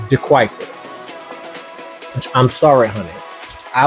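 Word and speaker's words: De Kuyper: And they got mad that I called De Kuiper or De Cooper. I called it De Cooper and I called it Schnapps. And they were adamant that it's pronounced Schnapps and that the brand is De Kuiper.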